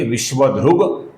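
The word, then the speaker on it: विश्वधृक्: आगे जो दो शब्द है विश्व ध्रुक और विश्वभ इनके अंत में क है दोस्तों अपूर्ण क है जिसका संधि के नियमों के अनुसार ग बना है दोस्तों तो इसका उच्चारण हम करेंगे विश्व ध्रुग विश्वभग यहां पर ग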